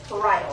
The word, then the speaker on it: parietal: say that one cuz I want to say peral but it's parital that's how it's pronounced so that's the red